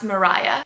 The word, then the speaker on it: Maria: Reynolds in act two by the way name is spelt Maria so I have no clue why it's pronounced Mariah Anthony Aramis who plays